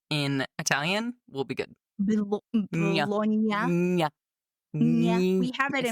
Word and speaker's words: Bologna: When I can pronounce the GN sound of those two letters together in Italian, we'll be good. Bologna.